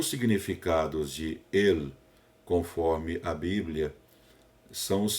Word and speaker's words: El: para o nome e essa pronúncia não é el é ele é como se os solistas dissesse né o l na palavra sala aqui a gente fala sal né lá eles falam falam e é a pronúncia do l em hebraico deve aparecer então por